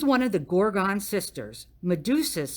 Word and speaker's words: Medusa: Medusa rhymes with Tuscaloosa.